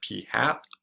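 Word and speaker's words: p̂: out of the 11, our sample proportion we're going to denote as p with like a little hat on its head. And so this is kind of pronounced like p hat.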